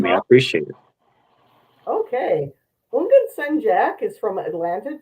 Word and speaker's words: Houngan: It's like the H is silent, so like Houngan.